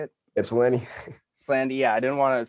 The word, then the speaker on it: Ypsilanti: Ypsilanti.